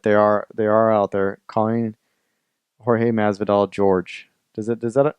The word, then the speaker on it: Jorge: There's not a whole lot of them out there, but they are out there calling Jorge Masvidal George.